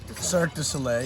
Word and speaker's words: Cirque du Soleil: yeah so i dance with signo soleil you pronounce it like that yeah cirque du soleil yeah uh every year for six months in